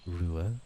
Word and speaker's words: Ruadh: have you name pronunciation my name is pronounce ruil ruil so some of the